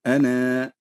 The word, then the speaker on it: أنا: كذلك كلمة أنا بشر عند الوقف عليها تثبت الألف، وعند الوصل تحذف الألف. فمثلا نقول عند الوقف عليها نقول أنا، هذا وقفا. أما وصلا نقول أنا بشر، ننطق فقط بنون بنون مفتوحة عند الوصل.